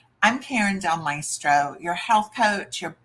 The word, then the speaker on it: Karin: My name is pronounced Karin, something a lot of people struggle with.